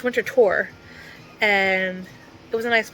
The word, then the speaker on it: Winterthur: I was saying it wrong. It's not winter thur. It's winter tour and it was a nice place.